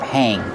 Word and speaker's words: hang: We use the verb hang when you install it. You hang the shower curtain on the shower curtain rod. How do you pronounce hang? Hang. Use the long A sound like plate and date.